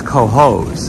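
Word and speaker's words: Cohoes: It's spelled C-O-H-O-E-S. That's Coho's. I don't know how you get peas out of hose.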